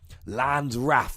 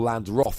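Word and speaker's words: Land's Wrath: at the second attack, Landrath, or Landroth if you want to go for a more biblical pronunciation there. I'm fine with either.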